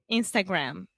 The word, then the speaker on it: Instagram: US we say Instagram Instagram yeah so the most important thing here gram uh-huh so Instagram close your mouth yes Instagram yeah great